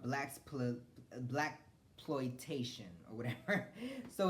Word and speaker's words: blaxploitation: How do you pronounce it? It's called blaxploitation or whatever.